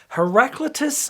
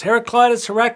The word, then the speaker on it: Heraclitus: All right, I should say that some of the purists who watch this channel would say, Jonathan, it's pronounced Heraclitus. Heraclitus, follow your heart, friends, whatever sounds better.